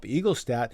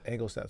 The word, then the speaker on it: Engelstad: It was all of Winnipeg had transplanted themselves into the Ralph Eaglestad. And Engel. Egel? Is it Eaglestad? Engelstad.